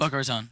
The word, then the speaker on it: Boca Raton: Boca Raton.